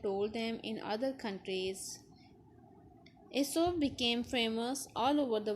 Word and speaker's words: Aesop: Aesop, pronounced Aesop, lived in Greece many hundreds of years ago.